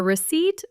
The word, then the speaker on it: receipt: Ah, yes, the receipt versus the recipe. A receipt, with a silent P, is the paper that proves you paid for an item.